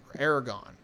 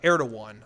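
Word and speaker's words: Erdoğan: not literally until edward aragon depending on however you want to pronounce his name i apologize um uh air to one i believe is actually the technical pronunciation of it but anyway the ruler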